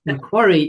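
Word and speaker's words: Macquarie: Hannah has recently started providing her services to Mcquary University and thank you for reminding me how I actually pronounce that. Quarry University in Sydney and the University of Sydney.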